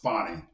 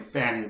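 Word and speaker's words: Fani: put a lot on fonnie Willis it's actually pronounced fonnie I was saying Fanny before and a lot of people do say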